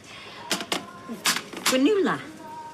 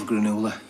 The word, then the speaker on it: granola: Granola. Oh, I love granola. It's pronounced granola. Is it? Oh, it's that age-old quinoa debate thing.